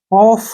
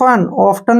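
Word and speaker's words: often: तो T silent रहेगा ऑफ क्या पढ़ेंगे इसको ऑफ ऑफ्टन नहीं पढ़ना है ऑफ अब जैसे नेक्स्ट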